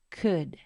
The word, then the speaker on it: could: de la pantalla e Asimismo la l no se pronuncia y la d se va a pronunciar de esta manera d d d uniendo esos tres sonidos y olvidándonos de la l simplemente sería c d y juntos could su forma negativa simplemente